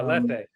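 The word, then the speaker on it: Lethe: merging, of navigating bardos and archives, of refusing lethy. Did I pronounce that right? Yeah. Leth.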